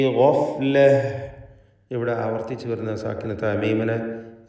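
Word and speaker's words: غفلة: ഗഫ്ല. ഗൈന് പൂർണ്ണമായ തഫ്ഖീം കൊടുത്ത് ഉച്ചരിക്കുക.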